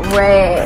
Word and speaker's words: Rhea: Like, it's spelled R-H-E-A, right? I just, my it's name not like R-I-A or R-I-Y-A, it's Ray. See, I'd rather you call me Rahia than Ray.